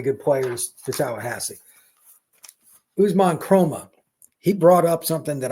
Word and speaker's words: Kromah: Usman Chroma, he brought up something that I'd forgotten.